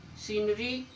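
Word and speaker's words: scenery: जब सी से पहले एस आए, जब भी सी से पहले एस आए तो सी साइलेंट। साइंटिफिक, सीनरी, मसल, देखो इसमें सी से पहले एस आया हुआ है तो आपका सी साइलेंट।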